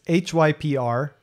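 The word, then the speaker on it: Hyprland: Hyperland. I don't know if that's how you pronounce it. Hyperland? It's Hyperland. There's no E, and it's very frustrating because the command for configuring Hyperland is Hyperctl, like hyper control.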